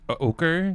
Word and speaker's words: ochre: ochre beun culture in the puddle wait that's pronounced ochre ochre o OK r e yeah my [